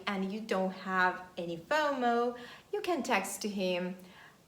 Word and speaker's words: FOMO: life is bomo and we don't pronounce it as separate letters we pronounce it as one word fomo fear of missing out